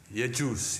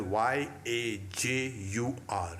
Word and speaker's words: Yajus: The Vedas, the Rig, the Sama, and the Yajus. Yajus, yes. How do you say it? Y-A-J-U-S. It is also written as Yajur, Yajur.